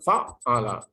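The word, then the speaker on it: فَعَّلَ: Adalah sebuah wazan di mana huruf yang pertama fathah, yang kedua ain musyaddad, ya tasdid, yang ketiga di fathah. Bacanya fa'ala.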